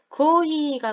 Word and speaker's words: コーヒー: 무엇 오 노무, 무엇을 마시다인데 고히가 뭐게요? 고히, 커피입니다. 커피. 커피를 일본 사람들은 고히라고 발음을 해요.